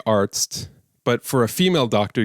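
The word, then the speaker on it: Arzt: a male doctor in German you would say artst but for a female doctor you would say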